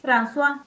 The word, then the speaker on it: François: Después, según las ideas de François, podría ser la pronunciación, Sí, sí, François, perfecto.